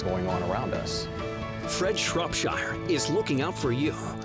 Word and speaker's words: Shropshire: Shortsphere? Shropshire. Can you pronounce this name right there?